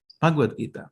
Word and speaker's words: Bhagavad Gita: What's the right pronunciation? Bhagavad Gita.